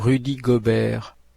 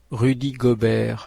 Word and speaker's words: Rudy Gobert: Rudy Gobert. Rudy Gobert. 예, 정확히는 루디가 아니라 R 발음이 이 포르투갈어랑 비슷하게 흐가 된다는 것.